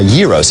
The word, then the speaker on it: gyros: a J even though the root word gyros is pronounced with a Y sound and that explains why